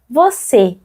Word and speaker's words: você: Mais en portugais, c'est l'accent circonflexe, c'est un peu plus fermé. Você.